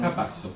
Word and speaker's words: Capasso: En effet, c'est une très longue amitié qui nous lie au président Capasso et Capasso, si dice in italiano? Capasso. Capasso. L'accent tonique est toujours un problème pour les Français.